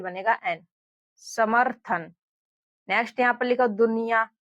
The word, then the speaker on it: समर्थन: अब देखिए इस शब्द को हम लोग पढ़े समर्थन। तो यहां पर देखिए सम फिर यहां पर म के बाद में इस रेफ की मात्रा का उच्चारण र के रूप में निकल रहा है।